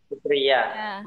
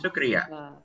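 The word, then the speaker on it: शुक्रिया: Sukriya. Sukriya.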